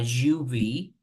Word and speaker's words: UV: Then the other one, it says a UV. As you can see, we don't say an UV because it's pronounced you, not you, you.